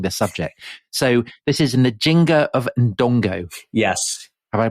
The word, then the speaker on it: Nzinga: So this is Nzinga of Ndongo. Yes. Have I pronounced that right?